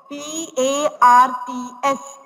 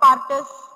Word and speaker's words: parts: P-A-R-T-S, parts. Do not say partus. No need to stress R. R is silent.